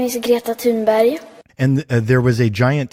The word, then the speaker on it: Greta Thunberg: I'm going to let you listen to her pronounce her own name here. My name is Greta Thunberg.